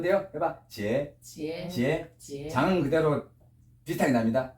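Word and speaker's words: 截: 절이 저로 바뀌어 어떻게 발음이 돼요? 해봐. 지에, 장은 그대로 비슷하게 납니다.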